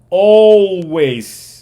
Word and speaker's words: always: repitan después de mí Always Always es siempre Always Yo sé que es una a pero no no se pronuncia a se pronuncia o o sea como